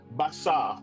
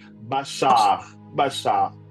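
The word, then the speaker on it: בחר: Le mot hébreu qui parle du choix c'est un mot qui veut dire qu' qu'on prononce en hébreu bachar. Je crois que certains ici connaissent Bachar Alassad comme vous l'entendez. Bachar Bachar B A C H A R.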